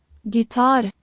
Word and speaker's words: gitar: So we want to hear how it's pronounced. Gitar.